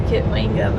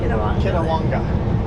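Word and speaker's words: Kitwanga: We I always say Kitwinga, but I think I say it wrong. Kwanga. Ah, Kawanga. Yeah. Kawanga. That's it.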